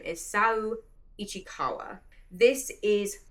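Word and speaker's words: Saou Ichikawa: This is by, I believe the pronunciation of this person's name is Sao Ichikawa.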